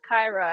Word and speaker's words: Kyra: And shout out to you, Jake, for pronouncing that right because everybody says Kyra, and I was fully expecting that.